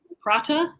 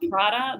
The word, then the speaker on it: prata: to work on my pronunciation of prata it's not prada the brand um because as an australian you tend to make some of your t and your j sounds similar so yeah it's just